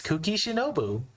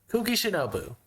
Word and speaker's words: Kuki Shinobu: The second word starts with an S, ends with a U, and rhymes with Konbu. That's right, it's Kuki Shinobu.